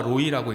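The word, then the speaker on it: רֹעִי: 그래서 여호와 라아 그리고 여호와 로이, 정확하게 말하면 여호와 로이라고 읽는데요.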